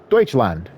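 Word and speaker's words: Deutschland: and when we start driving you'll also see deuts land which is how you say Germany in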